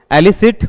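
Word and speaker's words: elicit: एलिसिट और इलिसिट। देखो एलिसिट और इलिसिट। तो दोनों का प्रोनाउंसिएशन ए और इ का डिफरेंस है।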